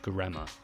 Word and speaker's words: Göreme: And we're actually staying in Göreme, not Görem.